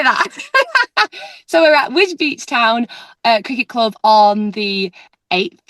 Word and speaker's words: Wisbech: So we're going to be at, well, I thought I pronounced it Wisbech Town, but I think it's Wisbeach Town. Wisbeach. Even though there's no EEC.